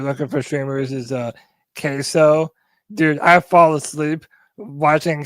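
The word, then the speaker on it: KaseOh: Real country like Queso like the cheese, right?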